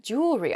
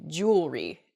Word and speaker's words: jewelry: Where the word kind of gets a little bit smushed together and we say jewelry instead. We miss that second E sound in there. It should be jewelry.